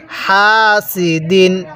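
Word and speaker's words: حاسد: পড়বো কিভাবে পড়বো হাসিদিন হাটা উচ্চারণের সময় মুখ দিয়ে হালকা বাতাস বের করবেন হাসিদিন তাহলে ওয়ামিন শাররি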